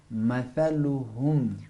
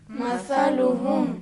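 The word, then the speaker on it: مثلهم: वो ये कि ज़बान बाहर निकाल कर फूंक मारना है। कौ सर, कौ सर। पढ़े आप। कौ सर। सलासा सलासा मसलुहुम। मसलुहुम।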